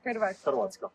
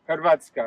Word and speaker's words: Hrvatska: Horvatsk is the country name. Hrvatska. Hrvatska.